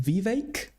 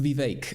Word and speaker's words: Vivek: It's pronounced Vivek. That's true, actually. It's pronounced Vivek.